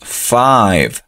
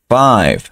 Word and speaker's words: five: puse aquí pues es recordar la pronunciación de la letra i cuando está sola a i entonces decimos Five Five esta e no se pronuncia F esta está sencilla